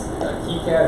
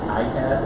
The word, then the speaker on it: KiCad: It's KiCad or KiCad, depending on the pronunciation you want to use, but it's KIC.